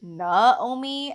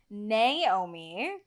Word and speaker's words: Naomi: And he intended for my name to be Naomi, Naomi, Naomi, because that's, like, the Hawaiian pronunciation of it.